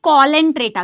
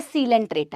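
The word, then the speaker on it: Coelenterata: यह कोलेंट्रेटा नहीं है। यह सीलेंट्रेटा है।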